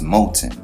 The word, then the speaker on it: Mouten: Now, the Japanese pronunciation is Mouten, and the Chinese pronunciation is Ming Tian.